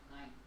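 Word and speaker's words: nein: If you see E-I, it will be I. And A-I will be also I. Again, these two are similar in sound. What is this? Nine.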